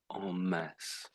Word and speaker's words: en masse: So that is pronounced as mass on mass. So that means a big number a great a group of people or or a large amount of something on mass.